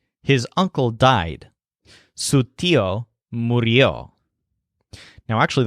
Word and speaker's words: murió: Su tío murió. Now actually that's pronounced as murió instead of morió, just for the sake of pronunciation.